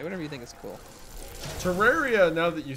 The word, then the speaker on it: Terraria: you think is cool Terraria now that you say it that way is probably how it's supposed to be pronounced because it sounds like terrarium yeah yeah but i'